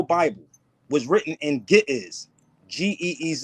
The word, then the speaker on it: Ge'ez: But the original Bible was written in Ge'ez, Geez. It's pronounced Ge'ez.